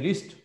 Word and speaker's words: wrist: है इसे कहते हैं रिस्ट, कहते हैं रिस्ट, WRIST, W लिखते हैं बोलते नहीं है, WRIST कलाई, WRIST रिस्ट कलाई।